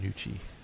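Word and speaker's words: Gnucci: I expect her to show up and it's spelled G N U C I which I imagine is Nucci.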